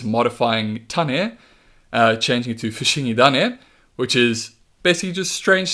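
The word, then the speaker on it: Fushigidane: Alright, so Bulbasaur's name in Japanese is Fushingi Dane. You're combining Fushingi, which means strange, with Tane, meaning seed. Now the reason Tane changes to Dane is something called rendaku, which is this thing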